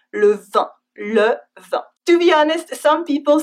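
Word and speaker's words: vingt: It's a very strange looking word, but don't worry, as we can hear it's pronounced the same way as the wine, le vin.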